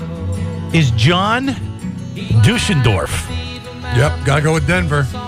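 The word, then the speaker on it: Deutschendorf: Duschendorf. I don't know if I'm pronouncing it. Deutshen Dorf. Okay. Yeah, that's right.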